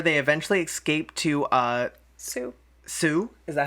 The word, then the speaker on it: Sioux: another car before they eventually escaped to uh Sue is that how you say it oh you're